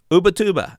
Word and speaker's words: Ubatuba: Ubatuba. And I pronounced that correctly because I found a bunch of people speaking the name.